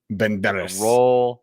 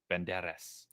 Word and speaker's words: Banderas: Banderas. You have to roll the tongue. Banderas.